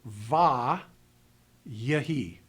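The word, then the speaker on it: ויהי: So we pronounce this word without the dagesh as va, yahi, to preserve the historic structure of the word.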